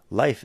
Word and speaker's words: life: Life es vida. Y fíjate que es distinto que el verbo I live, he lives.